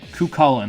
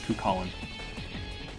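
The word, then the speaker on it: Cú Chulainn: Kukulin, that's how you pronounce it, Kukulin. We'll pronounce it Kukulin for now until we get to Final Fantasy XII. I am not pronouncing that bundle of flesh as Kukulin. That's Cachulian.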